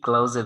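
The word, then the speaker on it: clause: হ্যাঁ, তা এই যে এই ক্লাউজের কথা বলছে। হ্যাঁ, জি ভাই। যদিও শোনা যায় ক্লোজের মতো, কিন্তু এর main উচ্চারণটা হচ্ছে ক্লাউজ।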